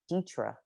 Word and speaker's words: Dethra: it difficult for me to have someone say ditra and pronounce it correctly so we have to start